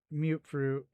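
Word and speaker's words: Mutfruit: I see mute fruit. I see why someone would pronounce it that way. And mut also I see the reasoning behind it. But meat fruit I do not see the reasoning behind that.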